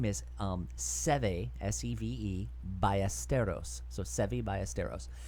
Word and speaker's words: Seve: Steve Ballesteros. Oh my God! And then Mark would always have to be like, I think it's pronounced Seve.